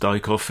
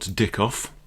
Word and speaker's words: Dykhoff: So the Dykhoff variation, as I'm reliably informed, it's pronounced Dykhoff in Dutch or Flemish, not Dickoff.